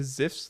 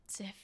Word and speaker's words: Zipf: Zipf. But Very I think fun. it's German, so I think it's Zipf.